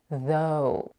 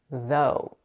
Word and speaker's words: though: you pronounce the th you need to be able to feel the air coming out between your tongue and teeth after the voice th